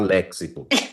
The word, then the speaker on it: léxico: léxico Então tá bom Agora eu vou usar léxico que é o jeito certo de falar porque é